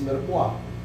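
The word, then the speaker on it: mirepoix: So, ano yung three elements to complete the one component of a stock, which is merkwa.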